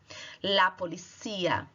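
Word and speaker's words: policía: polícia olha a diferença a gente fala a polícia isso chamado heterotonico porque a sílaba tônica é diferente e quanto em português a polícia espanhol você fala e a poli cia sílaba tônica anuncia la policia e aí tentou la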